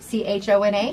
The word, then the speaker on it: Chona: C-H-O-N-A?